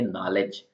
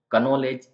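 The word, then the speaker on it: knowledge: जानते हो वैसे य नॉलेज नॉलेज का मतलब होता है ज्ञान तो कनोले ऐसा इसको नहीं बोलेंगे नॉलेज ऐसा बोलेंगे तो यह जो के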